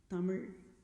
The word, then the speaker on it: Tamil: that's not like internals i think i'm pronouncing it correct that but it's a lot of stress on that letter tamil like that so festival of farmers